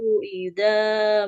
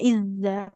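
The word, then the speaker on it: إذا: Wala ya'bas syuhada idza mau. Coba ibu boleh ulang pengucapan huruf zalnya. Idza. Idza itu, Ustazah. Nah, lebih mengalir suaranya. Idza. Idza. Idza. Idza. Idza. Tapi jangan ditahan. Tidak izza.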